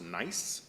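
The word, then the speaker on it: gneiss: is called the Morton nice it's spelled g-n-e-i-s-s but it is pronounced nice and uh this Morton nice is named after the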